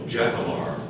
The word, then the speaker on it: jacamar: Are there any alternate pronunciations? No, just the one, Jacamar.